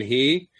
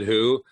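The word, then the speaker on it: הוא: Same thing with who and he. you have the Hey Vav Aleph. Right. And sometimes you pronounce it he, meaning she, and sometimes you pronounce it who, like it's written.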